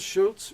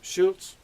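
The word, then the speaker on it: Arnold Schultz: named Arnold Schulz and Bill would always pronounce his name uh Arnold Schulz Schulz Schulz like that and he played uh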